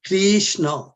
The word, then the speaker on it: Krishna: Krishna Krishna Krishna Krishna the krsna's name is Krishna these two syllable is talk it will